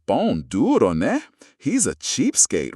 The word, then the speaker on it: pão-duro: In Brazil, you might hear them called a pão-duro, pronounced pão-duro.